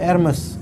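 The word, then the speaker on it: Hermès: Iya, Hermes bacanya Hermes.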